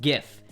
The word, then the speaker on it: GIF: care if the original Creator meant it to pronounce GIF it's GIF no one ever no one's ever going to